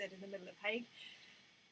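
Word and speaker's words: Haig: author called matt hague i've been pronouncing his name wrong for about a month i keep calling him hazing and it's because his instagram handle is matt zed hague and me with my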